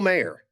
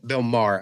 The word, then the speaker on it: Maher: It also had Bill Mayer. Uh, or not Bill Mayer, Bill Maher.